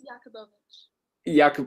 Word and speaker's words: Yakubovich: Which syllable to accent? It's Yakubovich. Yakubovich.